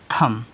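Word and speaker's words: thumb: रहेगा आपका साइलेंट रहेगा बी साइलेंट हुआ तो इसको क्या पढ़ोगे आप इसको पढ़ोगे थम हो गया चलिए आठवा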